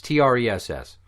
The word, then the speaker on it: Tress: Trey McNeil, or Tress McNeil, depending. I don't know how you fucking pronounce her name. It's Tress.